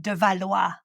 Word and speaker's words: de Valois: You are going to love de Valois. I love her name because I can pronounce it à la French.